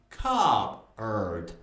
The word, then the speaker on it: cupboard: The first part is cub, not cup. Cub. Cub. The second part is erd. Erd. So, cupboard. Cupboard.